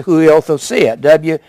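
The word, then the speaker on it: υἱοθεσία: That word adoption is the word huiothosia. It's pronounced a W. Huiothesia.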